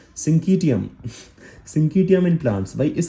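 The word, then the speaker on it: syncytium: Pronunciation कैसे है ना? सिंकीटियम सिंकीटियम इन प्लांट्स।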